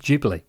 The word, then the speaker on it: Ghibli: It's pronounced Ghibli, turns out.